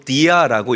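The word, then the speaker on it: διά: 자, 여기서 말하는 말미암아라는이 단어는 헬라어로 디아라고 읽고 발음해요. 저를 한번 따라하죠.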